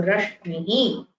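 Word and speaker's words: रश्मिः: So rashmihi means ray of light. Shmi is the pronunciation of this combination. You can find it in rashmihi, which is a word which means ray of light.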